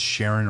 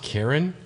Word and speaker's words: Charon: so you you say you say charon it's sharon or sharon okay okay no me and my tattoo guy were like it's like the most like hardcore like metal concept he's like is it pronounced karen yeah exactly like i